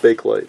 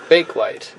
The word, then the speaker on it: Bakelite: for the record we do know it is pronounced bakelite bakelite so you've seen me do videos in the